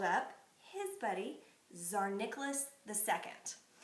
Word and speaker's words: Tsar: So he called up his buddy, Tsar Nicholas II. The T is silent. So Tsar Nicholas II was the